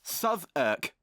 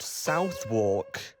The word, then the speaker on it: Southwark: Southwark! And yes, it's pronounced Southwark. Why couldn't it just be pronounced Southwark?